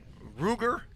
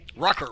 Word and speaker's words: Rucker: Well, as we look at their rushing, uh the quarterback, uh Ruger, is that how you pronounce that? Rucker. Rucker, I'm sorry. Rucker.